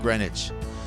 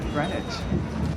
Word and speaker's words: Greenwich: And just like magic, you emerge into the sunlight of Greenwich, a place where you don't pronounce one of the E's or the W.